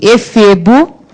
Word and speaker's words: efebo: Mas, português é assim, efebo, cuja sílaba tônica será fe.